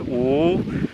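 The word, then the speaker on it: 五: In Chinese, 5 is pronounced "oo," so my mom would say, "Come on, let's get up.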